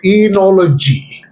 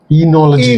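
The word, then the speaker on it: oenology: art of wine making is called eology eology eology but it is spelled very differently it is spelled o e n o l o g y that's as tough as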